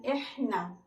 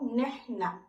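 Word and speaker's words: إحنا: Kemudian ana itu sama diucapkannya ana, nahnu, nahnu dalam bahasa Arab Fusha, dan dalam bahasa Arab Amiyahnya biasanya diucapkan dengan ihna atau nehna.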